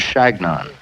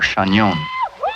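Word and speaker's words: Chagnon: I told him that it was shagnon or chanyeon but they couldn't pronounce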